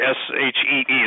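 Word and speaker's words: sidhe: I'm talking about creatures that have passed into our common vernacular, whether they're fairies, gnomes, brownies, sprites, the sea, the S-H-E-E, the she, which is spelled S-I-D-H-E.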